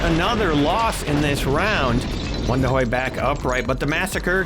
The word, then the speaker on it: Wondahoy: It's actually Wondahoy. Looks like Wonder, but it's pronounced Wondahoy.